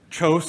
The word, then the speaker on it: Kjos: So Kjos is how we say it. Of course, that's not how they say it in Norway, and so I get